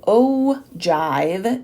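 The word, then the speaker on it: ogive: the cumulative of it the oh Jive is how you say that oh Jive and O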